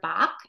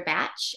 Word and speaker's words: Bach: of you might have heard this as Dr Bach I thought it was Dr Bach um but I learned in school that it's actually pronounced Dr batch and he uh was born in the 1930s